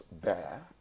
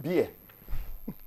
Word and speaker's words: bear: elephant that's a bear how many Nigerian children pronounce bear as bear they call it beer okay yeah and is